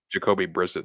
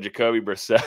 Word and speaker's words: Brissett: Arizona, Jacoby Brissett starting tonight. Brissett. You say Brisket? Did you just say Brisket? Brisket. No, you said Brissett at first. No. Instead of Jacoby Brissett, it's Brissett. You just want brisket.